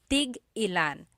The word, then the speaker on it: tig-ilan: Tig-ilan is a homonym, meaning it can have different translations depending on how it's pronounced. So tig-ilan, when there's a hyphen in it, you have to have that glottal stop.